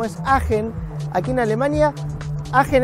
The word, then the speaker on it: Aachen: agen aquí en Alemania agen es hasta difícil de pronunciar se escribe aachen y se pronuncia como si tuviéramos asco aen y hasta allí vamos